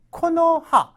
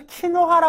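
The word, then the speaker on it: 木の葉: 수예요 가로스 남기 남기 근데 코노하 이걸 또 키노하라 읽으면 안 되겠죠 코노하라고 하게 되면 나무잎 나뭇잎 나뭇잎이 되는 거예요 이거를 키를 읽게 되면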